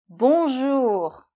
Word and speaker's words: Bonjour: - Yet be careful though with the pronunciation. We hear a little of all of it. So I will repeat it. We do . Okay, the R is made here, .